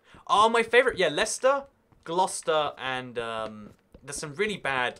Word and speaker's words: Gloucester: Lester or Worcester are my favorite yeah Lester Gloucester and there's some really bad like English names I love how Americans say Nottingham - they're like Nottingham like so